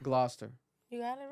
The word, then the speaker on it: Gloucester: to jail bro yeah that's crazy apparently it's pronounced Gloucester Gloucester you got it right oh we got the